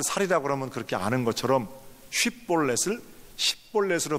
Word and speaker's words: 쉽볼렛: 이스라엘 사람들 넘치는 강, 넘치는 시내, 이런 단어가 히브리어로 쉽볼렛입니다. 쉽볼렛. 그러니까 그 이스라엘 사람들은 전부 다 쉽볼렛 이렇게 발음을 하는데 에브라임 사람들은 이상하게 쉽자를 못하고 십볼렛 이렇게 합니다.